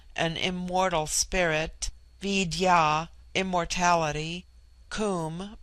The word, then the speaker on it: Kum: immortal spirit, Vidya, immortality, Kum, pronounced like the Welsh coom, denotes something of hollowness.